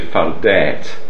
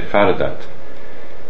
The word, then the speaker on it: fardat: So don't say fardet, they say fardat.